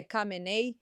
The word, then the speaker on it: Khamenei: Mas o principal é: tenho pronunciado comin errado. É camenei, camai, camenei.